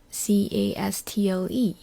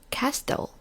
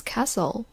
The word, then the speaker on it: castle: So, I read it out castel, but my friend say, "No, it's castle." And I argue with him. I thought he was wrong, and he said, "No, t is silent."